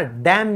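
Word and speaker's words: damn: और किसी पे कहते हैं ना डैम यू। कि तुम पर लानत है। डैम यू। तो यह जो है यह भी साइलेंट है। इसको कहेंगे डैम।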